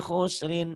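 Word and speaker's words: خسر: Innal insana lafi khusr. Jangan hus. Berapa banyak ustadz katanya ustadz. Bacanya wal as. Innal insana lafi khus. Salah. Wal asr.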